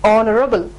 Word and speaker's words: honorable: in importance or the stress is given on O sound, honorable, honest, R, and hotel. So when you utter these words that start with H with a vowel sound, you have to use an before it.